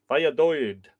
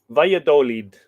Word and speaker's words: Valladolid: Valladolid. So the last syllable, lead.